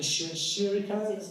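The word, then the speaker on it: Chirico: Reminds me of the Shuriko, that's the way to pronounce it.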